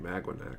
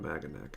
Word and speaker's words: Maganac: It's supposed to be Magwanac, not Maganac, I think.